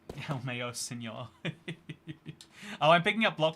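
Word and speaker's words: LMAO: I pronounce Lamau as El Mayo. Oh, you do want... So, yeah, I feel like then it would be E-L-M-A-Y-O. I wrote it. But yet you're pronouncing it. But yet you're spelling it L-M-A-O.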